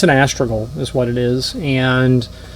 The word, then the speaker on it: astragal: in our industry often misspelled or misspoken or mispronounced asle um but it's an astral is what it is and the term in